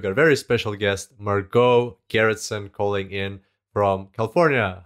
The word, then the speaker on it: Margot Gerritsen: and today we've got a very special guest marco garretson calling in from california how are you going